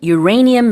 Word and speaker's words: Uranium: 네, 우라늄 농축 시설을 영어로는 Uranium Enrichment Facility라고 합니다. 발음도 주의해 주시면 좋은데요. 우라늄을 영어식으로는 Uranium이라고 합니다.